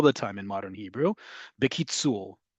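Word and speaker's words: בקיצור: time in modern Hebrew, bekitzul. Bekitzul, or you'll hear it's pronounced bekitzer, right? You really will hear it sounded like bekitzer, like it's almost mimicking a English accent, right?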